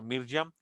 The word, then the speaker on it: Miriam: Su nombre proviene del hebreo Miriam, o también se pronuncia Mirjam.